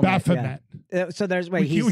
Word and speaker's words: Baphomet: How do you pronounce it? The goat? Baphomet. Baphomet.